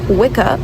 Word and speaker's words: Wicca: So we know it as wikah today. That's how we pronounce it in modern day.